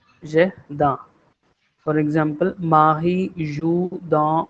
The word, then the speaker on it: jardin: If I give you one phonetic, the pronunciation is like jardin.